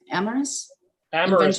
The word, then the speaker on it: Amorous: Amorous. Amorous, just like if Yes. you love somebody.